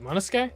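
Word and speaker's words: Monosuke: Wait, Monoske? That's how you pronounce that? Once upon a Why is there a U then?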